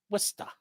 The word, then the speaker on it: Worcester: Oh, it's pronounced Worcester. Worester.